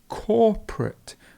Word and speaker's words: corporate: to cope with something and corporate corporate so the stress would be at the beginning it's a corporate world